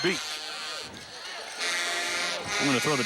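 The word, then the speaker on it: Bigalk: beat is that it the last name beat b i g a l k yep pronounced beat I'm going to throw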